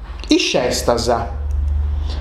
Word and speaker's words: is festas: Nosus creusu is festasa, ma sa effa, candu sagattanta, di aici satobianta, bessinti sono sh. Dunque, sa pronuncia esti iscestasa.